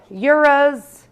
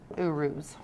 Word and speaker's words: Uruz: stone this rune um a lot of people say euros uh apparently it's actually supposed to be pronounced uruz okay say it however